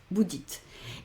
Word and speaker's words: dites: veo, hay una regla y digo, vale, no llevo una E ahí aguda que me está indicando que tengo que pronunciarla, con lo cual, ¿qué hago? No la pronuncio. ¿Dónde me paro? Lo que siempre te digo, en la anterior. Entonces es dit, vous dites.